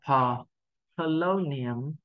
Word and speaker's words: Polonium: Âm tiết đầu tiên không nhấn trọng âm, mình đọc là pờ, lâu niềm, lâu niềm.